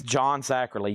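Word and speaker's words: Zacherle: That is John Zachary. Yeah, that was Dinner with Dra spelled Zachary is spelled Z A C H E R L E.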